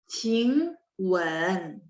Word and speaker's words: 请问: Jadi ketika baca nada 3 kan dia memang turun baru naik dikit kan. Ketika naik dikit langsung nyambung ke kata sampingnya.